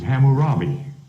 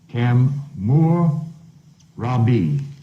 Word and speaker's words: Hammurabi: ham but it's cam whose name is not cam but is which is pronounced in most literature's as Hammurabi this is three names cam more Robbie like fire Lord of